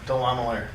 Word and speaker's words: Delamelaire: Delamelaire. Wow. Delamelaire. Wow. So is there an easy way to remember that? Yeah, believe it or not, chandelier. Delamelaire, chandelier.